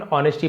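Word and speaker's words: honesty: And because of ह एंड और because of यानी के कारण हिज ऑनेस्टी एस साइलेंट रहता है। केवल ऑनेस्टी पढ़ते हैं।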